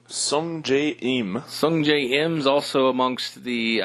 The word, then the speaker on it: Sungjae Im: Sungjae Im.